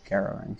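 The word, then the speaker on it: Hungaroring: It is Garo ring. Okay, I wasn't sure. Difference in pronunciation is all that is.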